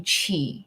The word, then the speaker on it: Chee: how else would you it's like cheese okay i don't know